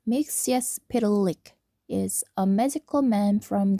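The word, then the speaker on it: Mxyzptlk: Mr. Mixes Pitik pronounced Mixius Pilik is a magical man from the fifth dimension.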